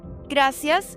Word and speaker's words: gracias: Common mistake 1. English vowels. Wrong. Gracias for gracias. Right. Gracias. Spanish A is always H, never A.